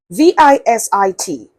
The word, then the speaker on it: visit: VISIT. Yes, the S there does not take the S sound of letter S.